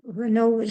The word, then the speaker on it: Raynaud: But the thing is that I because you know, Raynaud's is French name. So, it was French. How do you say Raynaud? Yes, Raynaud. Raynaud. Raynaud. Le syndrome de Raynaud.